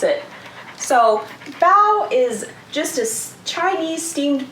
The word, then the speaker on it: bao: to pronounce it so bao is just as chinese steamed bun with savory or sweet filling and so the kitty is telling us bow is pronounced like bow like when you take a bow and not like bow